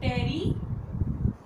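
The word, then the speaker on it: terephthalate: पीईटी दी full form की आ, poly ethylene, नाम सीखो पहला, पॉली इथाइलीन टेरीथैलेट। टेरीथैलेट आ पीएच है ना बच्चे जेड़ा साइलेंट है, ठीक है।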